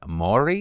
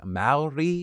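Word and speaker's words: Māori: was the incident where I think I said Maori, and I'm not even sure if I was that off. I don't like going back and viewing my mistakes, but I wanted to acknowledge it. It is Maori.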